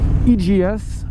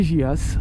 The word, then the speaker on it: EJEAS: coup un intercom d'une marque qui s'appelle IAS as si vous voulez prononcer à la française et Jas regardez c'est beau les